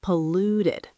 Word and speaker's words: polluted: Polluted. Polluted. Stress on the second syllable.